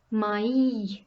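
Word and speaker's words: maïs: me means but and when there is the accent tilma on the letter i it is pronounced my my and brings the meaning corn repeat after me me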